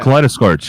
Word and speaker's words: Kaleidoscorch: How's that pronounced? Which one? The one with flashback over there, the one flying. Kaleidoscorch? Oh, yeah. Kaleidoscorch, yeah.